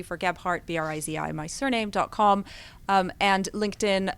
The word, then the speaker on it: Brizi: Not Brizi, Brizi.